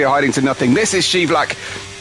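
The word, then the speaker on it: Scheivlak: to nothing this is shelak don't worry what you heard in F1 Esports it is pronounced shelac then we go into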